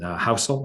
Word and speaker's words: Housel: money it's written by morgan housel i think is how you say his last name h-o-u-s-e-l it it's referring to